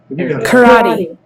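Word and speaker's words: 空手: Karate. Karate. That's the Americanized version. Yeah. Sure. In Japanese, te is pronounced te, Karate. so it's karate.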